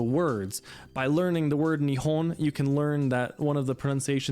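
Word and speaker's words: 日本: but you might know it in the word Nihon which means Japan and so our pronunciation changed from heat to knee but then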